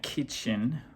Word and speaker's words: Kitschin: Well, I'm going to go with uh The Drones, Fiona Kitchen or Kitschin is the way it's spelled.